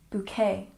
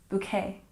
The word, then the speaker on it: bouquet: wrong my apologies but make sure that you are stressing the second syllable bouquet bouquet once again bouquet good and number three